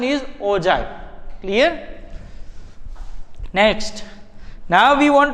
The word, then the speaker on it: ogive: Both are the same, but pronunciation is ogive.